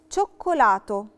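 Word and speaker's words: cioccolato: شوكولاتو، شوكولاتو فيها قاعدتين. التشي اي نطقناها تشي علشان احنا اتفقنا ان القاعدة بتقول لترا تشي وراها لترا اي بتتنطق تشي دولشي تشي، بس برضو اتفقنا ان الدوبيا تشي لو عندي اتنين تشي ورا بعض بيتنطقوا تشي دورا فبيتنطقوا ك، فبقت شوكولاتو. شاربة، شاربة اللي هو سكارف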